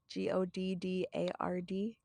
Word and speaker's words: Goddard: quoted Henry H I always pronounce this last name wrong so I apologize is it Goddard it's g-o-d-d-a-r-d Goddard I'm not yeah every feeble-minded person is